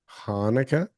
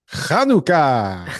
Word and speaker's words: Chanukah: Hanukkah? That's not how you say it. How do you say it? Chanukah.